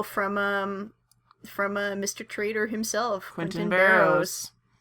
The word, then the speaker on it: Burroughs: Now, is it Barrows or Barrows? I think, well, I've seen it spelled different ways. In this game, it's spelled B-A-R-O-W. I believe in the, I think it's Clock Tower 3. Yeah, it's Burroughs. Yeah, B-U-R-R-O-U-G-H-S.